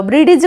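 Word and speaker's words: bridge: कर page page cage ब्रिज eighty देखो डीटा आमर साइलेंट रहो ब्रिज कहबनी कौन कहब ब्रिज ब्रिज एज एडे जे कहबनी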